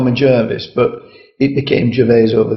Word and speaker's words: Gervase: j should be pronounced if it's in English it's Jervis my parents always call me Jervis but it became Jes